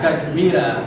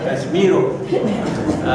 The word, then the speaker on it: Kashmiro: Now you're not a woman, not Kashmira, but Kashmiro.